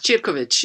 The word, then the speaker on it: Cirkovic: And I'm very pleased to introduce Elena Cirkovic. Is that correct pronunciation? Yes, pretty much. Cirkovic. You got it 99%.